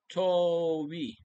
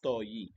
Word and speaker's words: Toei: courtesy of the original Toei. Toei pala pronunciation. I thought it's Toei. Toei po.